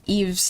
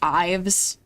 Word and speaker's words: Eve: Oh gosh, that's not as bad as um again, I I used to think Eve's name was pronounced Ives.